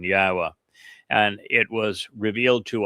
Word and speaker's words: Yahweh: There is the yah conclusion of the the name which certainly tells you how to pronounce three of the four letters in Yahweh.